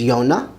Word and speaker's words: יונה: Jonah is Yonah, Yonah.